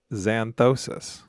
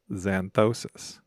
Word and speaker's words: xanthosis: Is there any silent letters? No. Zanthtosis. Yes. Zed. No. Z. It's another letter that makes that sound. Zantois. Santoos. Is it S? No. X. Starts with an X.